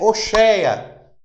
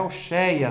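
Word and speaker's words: הושע: O nome dele é Oxeia, né? No hebraico, Oxeia. No hebraico, oxea. Não é oia, não é oia.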